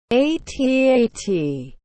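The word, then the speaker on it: AT-AT: when you think of atat is how to pronounce it atat and then it's snow speeders this way you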